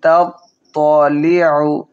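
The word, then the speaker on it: تَطَّلِعُ: মুকাদাহ নারুল্লাহিল মুকাদাহ আল্লাতী তাত্তালিউ প্রথমটা তা, তারপরে তাত্ত আল্লাতী তাত্তালিউ আইন হলকের মধ্যখান থেকে উচ্চারণ করব।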